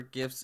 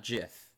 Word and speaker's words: GIF: interface something okay yeah gif not jiff I mean how do you say giraffe then oh yes GI you pronounce a G but if it's gr you pronounce it ger hi topics of conversation